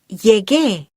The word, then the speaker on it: llegué: To keep the gar sound, we need to write llegué. Can you hear how ge keeps the ga sound of llegar?